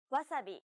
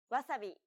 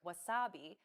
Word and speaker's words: wasabi: be the same but don't forget that japanese isn't a stress-timed language like english so instead of stressing the second syllable like wasabi make it even throughout try again nearly all